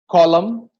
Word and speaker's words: column: Now, N is not pronounced if words end with MN. You know that. Autumn, column, dam, hymn. We are not pronouncing the N.